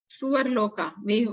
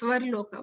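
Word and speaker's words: स्वर्लोक: Suvarloka. Suvarloka actually is Svarloka, but we are pronouncing wrongly.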